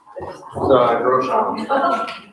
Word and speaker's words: Grossberg: How do you say it? Groshan.